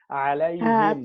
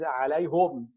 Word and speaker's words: عليهم: It's easy to pronounce the ha with a kasra after ya with sukun. Alayhim. Okay. That's why, by the way, there's one of the Qari, Hamza, he says alayhum.